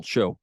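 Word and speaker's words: shew: if you you pronounce the correct pronunciation for s-h-e-w is still show so anyway um show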